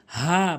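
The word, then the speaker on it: ح: নামাজ ভঙ্গ হবে না হা এর সঠিক উচ্চারণ হচ্ছে হালকের মাঝখান থেকে হা ভুল উচ্চারণ হচ্ছে হা সঠিক উচ্চারণ হচ্ছে হা।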